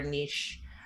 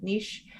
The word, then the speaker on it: niche: really clear on avatar niche. Um and that's my Canadian pronunciation of niche and the transformation. Right? It's not niche it's niche.